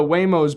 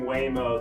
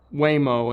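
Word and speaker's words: Waymo: might be stolen from a company that rhymes with Neo. Okay. Yep. Yep. E I E I O. Bingo was a dog. What was his nameo? That's the rhyme to the the thing. It's not Whamo.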